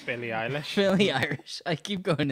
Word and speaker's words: Billie Eilish: Billy Irish. Billie Eilish.